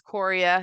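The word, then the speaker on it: chorea: or jerky movements called Cora all right um it looks like choria but it is Coria you don't pronounce the h of the arms and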